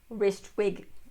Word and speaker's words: Rijswijk: I'm going to, here, I'll spell it if anybody's interested. It's Rijswijk. So, Ristwig.